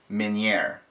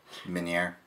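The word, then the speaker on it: Meunière: we are now going to make easy crappie minere did I say that right Minier yeah Minier Min Min now I'm not saying it right minere okay it's French not easy I thought that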